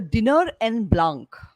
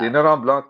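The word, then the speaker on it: Dîner en Blanc: Um, there's a certain kind of party in the world which has become very popular called the Dinner en Blanc. Dinner and Dinner en Blanc. I'm going to spell it for you because my pronunciation must be pathetic.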